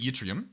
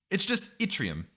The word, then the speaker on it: Atrium: another thing um I was pronouncing it it's all the first time I was trying to pronounce it utrium right then then I misread a comment and started pronouncing it lutrium Atrium it's pronounced like an eye which which sort of